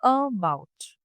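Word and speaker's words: about: अगर बोलूं जैसे कि अबाउट तो अबाउट में जो अ की साउंड आ रही है इसे हम लाइटली बोलते हैं। अबाउट।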